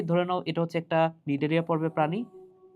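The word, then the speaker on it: Cnidaria: ঠিক আছে ভাইয়া, তাহলে দ্বিতীয় পর্ব হচ্ছে নিডারিয়া। এবং নিডারিয়া বানানটা দেখো, বাংলা বানান তো পারবা, কিন্তু ইংলিশ যে বানানটা সেটা হচ্ছে সি দ্বারা শুরু, CNI দিয়ে শুরু। ঠিক আছে? সো নিডারিয়া।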